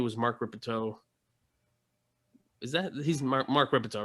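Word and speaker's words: Rippetoe: He's Mark Ripito, right? I'm not getting his name wrong.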